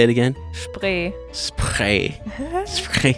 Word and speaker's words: Spree: Spree. It's spree, guys. So it's spree. But say it again. Spree.